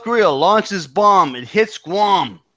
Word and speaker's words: Guam: It hits Guam. And it rhymes too, by the way. Here comes the bomb.